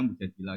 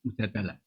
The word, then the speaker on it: Mujadilah: Yang benar itu bacanya mujadilah yang level A. Tapi umumnya orang baca apa? Mujadalah.